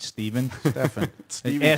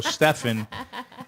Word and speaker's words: Stephen: south in general but you can't spell stephen with a ph and pronounce it stephen like him will go stefan and i lose my